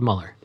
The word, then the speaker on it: Muller: dates at padam padam Euler comm or Euler across all platforms although it's spelled Muller yes I had him Muller although that's not the wrong pronunciation yeah Euler comedy